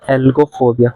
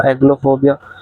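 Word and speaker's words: algophobia: ओ बी आई ए कल मैंने इसको गलत प्रोनाउंस दिया मैंने जी पहले प्रोनाउंस कर दिया था एल बाद में मैंने इसको एलो फोबिया प्रोनाउंस कर दिया था व मिस्टेक ठीक कर लेना आप ठीक है एल्गो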